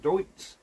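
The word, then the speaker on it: Deutz: seized up so the Dukes deuts I think someone said pronounce it deuts she is coming that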